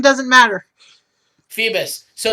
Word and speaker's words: Phoebus: Phobos. Is Phoebus actually. It's Whatever. Phoebus, right? Pronunciation doesn't matter. Phoebus.